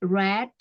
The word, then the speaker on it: read: aja beda-beda kalau perempuan read verb 2 red untuk ketiganya cara membacanya itu kayak kamu ngucapin warna merah itu ya kalau misalnya menulis